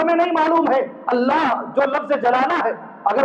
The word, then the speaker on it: اللہ: بولنا نہیں آتا ہے، اس لیے کہ جتنے بھی لوگ اللہ بولتے ہیں لفظ ہی غلط ہے۔ اللہ یہ صحیح لفظ ہے، اللہ یہ صحیح لفظ ہے۔ ہم جو بولتے اللہ، اس کا معنی یہ